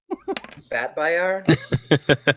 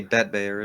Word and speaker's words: Batbayar: Batbayar? Is that how you say it? Okay. Phonetically. I was gonna say Batbear, and I was like, that's wrong. Let me see.